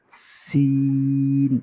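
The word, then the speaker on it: سين: যেমন চড়ুই পাখি আওয়াজ করার সময় দেখবেন আওয়াজ করে সি সি সি, এরকম আওয়াজ হবে। তাহলে এই হরফটা উচ্চারণ হবে কি? সিন। আওয়াজটা কিন্তু একটু লম্বা হবে, বুঝতে পারতেছেন?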